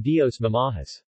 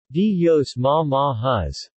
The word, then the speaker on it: Dios Mamajes: The letter E is pronounced as the schwa oun, or A, as in Dios Mamahas. Dios Mamahas.